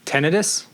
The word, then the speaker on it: tinnitus: tinnitus? Maybe. That's how it's pronounced. Tinnitus.